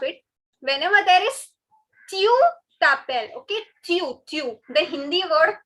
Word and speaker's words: t'appelles: Again, the last S is not to be pronounced.